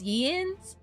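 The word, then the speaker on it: Jens: It's the J just pronounced as a Y. So it's Yens.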